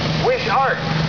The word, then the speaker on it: Wishart: Now I pronounce it Wishart. Oh, I got it. That's a tough name, but I got it right. All the way from Langley, BC. Wayne Wishart with a 51 8-in Ford.